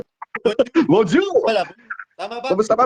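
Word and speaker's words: bonjour: ako opo kita ka br joe bonzu bonjuzu pala tama ba kamusta pa brother paano po ba ang pronunciation nonju bonz bonju bonju bonju wala art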